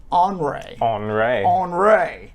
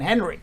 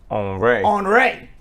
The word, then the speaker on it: Henri: Meanwhile, very fancy hurricane, tropical Henri. I was calling it Tropical Storm and Hurricane Henry. Nope. But nope. Henri. Sounds French.